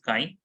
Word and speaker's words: chi: fraction by this x looking word X looping letter but it is known as Chi you pronounce this as sky and